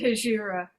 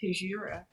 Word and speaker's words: Hejira: but not least soup i've always called it hajira and you know it's funny because i was so young when i first heard the album so i must have heard a dj or somebody pronounce it hijira and you know joni calls it that so i'm going to keep saying all right so i'm